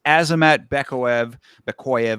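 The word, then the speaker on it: Azamat Bekoev: This is Azamat Bekoyev, I guess is how they pronounce it.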